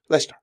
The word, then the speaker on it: Leicester: and on Wednesday in one of those typical British towns that has way more letters than you ever pronounce, Leicester.